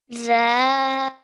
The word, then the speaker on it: ذا: Now this sound over here again, I want you to take the tip of your tongue, touch it to your top two teeth at the front, okay? The ذا better, well done.